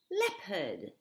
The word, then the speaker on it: leopard: one is a beauty how would you pronounce this word well you're wrong it's leopard believe it or not that's the way english works it's a crazy language oh